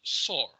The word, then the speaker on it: soar: The word is called soar. Soar. Okay, S-O-A-R. How do you pronounce it? Soar. Not soar. Okay, not soar. Soar. Macam S-O-R lah.